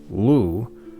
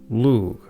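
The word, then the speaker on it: Lugh: While most modern Irish speakers pronounce the name Lou, I use the older pronunciation of Lug, from Proto-Celtic lugus. This GH in modern Irish and Scottish Gaelic is nearly always silent.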